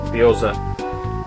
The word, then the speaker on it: gyoza: Whereas in Japanese she loves lines, which is Nurrrccceee, and hot stickers, which is sort of like a dumpling, and that's pronounced gyoza.